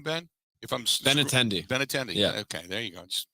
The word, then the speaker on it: Benintendi: Is how you pronounce his name, Ben? If I'm Benintendi. Benintendi.